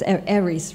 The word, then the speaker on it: ARIES: It's ARIES, right? Yes. It's a correct pronunciation.